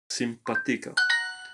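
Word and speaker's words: simpático: simpatico here means nice simpatico simpatica has an accent on the p under a sorry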